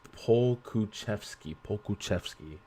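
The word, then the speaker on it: Pokuševski: It's pronounced Pokusevski.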